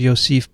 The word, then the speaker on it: Yosef: we'll stick with that he said it's basically the same way as joseph but just start with a yo so dear you dear